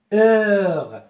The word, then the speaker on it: heure: مثال ثاني ساعة heure, je dis pas heure, heure.